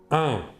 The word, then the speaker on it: un: nous utiliserons l'article 1 il se prononce 1 mais s'écrit un N à la forme affirmative